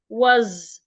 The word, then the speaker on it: was: The fish was the s in w changes to zed.